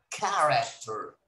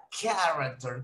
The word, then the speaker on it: character: For example, in the word character, ¿qué palabra no se está pronunciando? Character. Character.